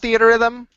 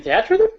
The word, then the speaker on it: Theatrhythm: Anything more to say about Theater Rhythm? Oh, you mean Theatrhythm? You're gonna fucking call me on No. that pronunciation Viat Rhythm.